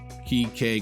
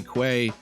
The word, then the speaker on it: quay: All three are acceptable. Quay, quay. Depends on where you are in the world.